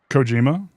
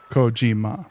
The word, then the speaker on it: Kojima: it into American pronunciation you would stress the first syllable and not the second one.